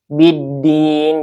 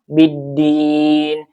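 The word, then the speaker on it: بِالدِّينِ: Dibacanya langsung ee diidgamkan ke huruf dal ya biddin. Jadi lamnya tidak terdengar atau tidak ee dibaca ya langsung ke huruf dal. biddin din ini ada mad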